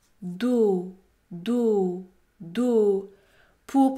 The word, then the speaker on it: dos: maintenant dos do do la lettre S est également muette elle n'est pas prononcée do do le mot do contient une syllabe qui se termine par une voyelle prononcée dans ce cas le O est un o fermé dos do do pour